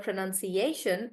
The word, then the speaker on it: pronunciation: the rules for example so generally the word words that end in Shan we stress on the syllable right before Shan yeah and that's why in the word pronunciation we stress on the A and guys once you